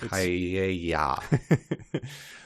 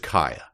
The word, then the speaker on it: Kaaya: I thought Kaya, but it's spelled Kaaya. Yeah, Kaya. So that always trips me up. Yeah, but it's just Kaya.